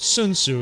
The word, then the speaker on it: Sun Tzu: Like 1,500 years before Frederick the Great said it, Sun Tzu, which Sun Tzu is actually correct pronunciation for those out there about to correct me.